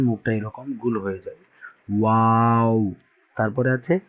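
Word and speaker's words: واو: তারপরে ওয়াও, একদম দুই ঠোঁট উচ্চারণের সময় গুল হয়ে যাবে, অর্থাৎ যখন এটা উচ্চারণ করবেন মুখটা এরকম গুল হয়ে যাবে। ওয়াও।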